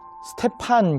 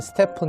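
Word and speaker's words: Stephen Curry: mvp 3품 커리 여러분 영상에서는 스테판 커리 라고 되어 있는데 본인이 그렇게 이야기했다 고 하더라고요 자기는 스테픈 이라고 읽어야 된다고 싸 폰 커리 이 사람에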